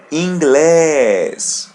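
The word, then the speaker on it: inglês: The letter N is a light N and there is accent over the letter E or letter E in English. So we're going to pull the letter E. English like that.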